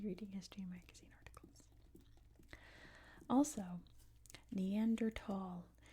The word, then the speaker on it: Neanderthal: Also, Neanderthal is how it's pronounced. It's named after the Neanderthal or Neander Valley in Germany, and it is pronounced Neanderthal. However, if you say Neanderthal, that is fine too. That is one of the English pronunciations. So if you say Neanderthal, no one's going to be mad or anything, but it is pronounced Neanderthal. That is the correct name.